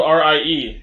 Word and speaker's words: Rie: Well, it's spelled R-I-E. It is pronounced Rie, actually.